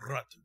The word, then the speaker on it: Ratu: Ratu. The R is rolled. Ratu.